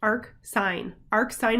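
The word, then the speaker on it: arcsin: So the inverse sine function is defined by, we say y equals arc sine, that's pronounced arc sine of x, or we can say sine inverse of x.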